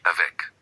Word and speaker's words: avec: Avec, you hear the C avec.